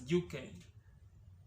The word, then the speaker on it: Njuki: Bees has also inspired a name among the Gikuyu people, and this is Yuki. Written as Njuki, but pronounced as Yuke, because that I has a tilt on top.